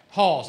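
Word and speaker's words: Haugs: right in frederick county hall's church it's it's um it's i but it's spelled h-a-u-g-s yeah i i believe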